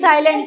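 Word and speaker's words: psi: साई साई सा प साइलेंट है प साइलेंट है पढ़ते मतलब साइ क्या हो गया यह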